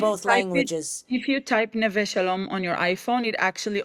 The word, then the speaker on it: Neve Shalom: Um, and correct me if I'm pronouncing this wrong. Nev Shalom. Neve Shalom.